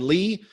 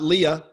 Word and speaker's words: Lea: Oh man, you can find me all over, but just look for The Real Lee, and that's spelled L-E-A. It's not Leah.